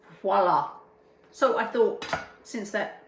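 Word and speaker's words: voilà: In case you're wondering, it seems Viola. it seems to be a thing that voila, V-O-I, sorry, V-O-I, not V-I-O, Viola. which would be viola, V-O-I, voila.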